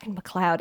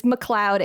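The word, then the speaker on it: MacLeod: like oh his name is McLoud it's McLoud it's it's McLoud Andrews uh it's pronounced McLoud uh for shame my my apologies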